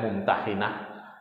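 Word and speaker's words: الممتحنة: Jadi dampak dari perjanjian Hudaybiyah ini salah satunya ayat ini, yaitu kalau Bapak mau buka di surah Al-Mumtahanah, ada yang bacanya Mumtahinah ya, ayat ke-10.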